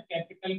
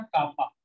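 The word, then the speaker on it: kappa: Capital के, और इस के को प्रोनाउंस करते हैं बेटा कापा। क्या प्रोनाउंस करते हैं? कापा।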